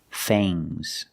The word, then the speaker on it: fangs: Remember with NGS, it makes a soft G. Bangs. Bangs. Bangs. Things. Things. Fangs.